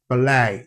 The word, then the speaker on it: ballet: And then the word ballet, yeah? Same thing. So the T is silent and then the letter E is pronounced as the diphthong A.